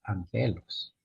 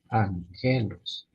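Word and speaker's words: ἄγγελος: y por ejemplo ahí tenemos la palabra Ángel angelos si lo leemos literal Pudiera Decir arreglos pero no la primera zona como n así nasal Ángel angelos angelos sería la pronunciación para decir Ángeles o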